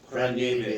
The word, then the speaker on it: Praniewicz: Praniewicz.